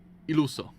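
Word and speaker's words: Illuso: Iluso. That's how you pronounce it.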